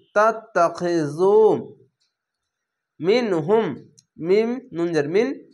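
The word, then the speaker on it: تتخذوا: তাত্তাখিযু, পেশের পাশে অসাকিন এক আলিফ টেনে পড়বেন এবং এই জাল উচ্চারণটি নরম করে করবেন। তা তা যাবার তাত, তা যাবার তা, তাত্তা, খজের খি, তাত্তাখি, জাল অপেশ জু, তাত্তাখিযু।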